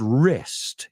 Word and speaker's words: wrist: It's like the word wrist. It has a silent W.